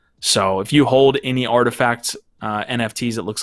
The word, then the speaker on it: RTFKT: nft live let's talk artifact and uh it took me forever to finally figure out how to pronounce it but yes it uh artifact is uh definitely a